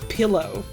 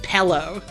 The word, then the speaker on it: pillow: of people here who will take the word pillow and pronounce it pello.